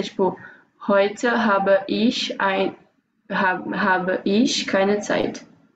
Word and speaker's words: Zeit: Olha a pronúncia. Zeit.